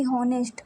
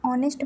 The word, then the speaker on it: honest: ऑनेस्ट लिखा है ना कि हॉनेस्ट, इसे हम ऑनेस्ट पढ़ते हैं।